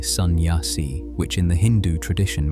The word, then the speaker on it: sannyasi: A sannyasi, pronounced roughly sannyasi, which in the Hindu